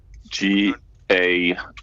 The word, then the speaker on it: Gaia: GAIA. G-A-I-A. Not like the food, not Goya. Goya.